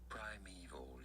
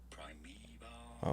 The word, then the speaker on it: primeval: Netflix American American primeval. Yes, I know. It looks like it should be say primoval or primeval.